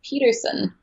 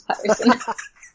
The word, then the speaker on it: Pettersson: Vancouver, obviously, they have and I don't know if I'm supposed to pronounce it as Elias Peterson or Pettersson, because he made that fun video where he said, pronounce my name like an American. It's Elias Peterson. And then their broadcast team came out and said, don't do that. It's Pettersson.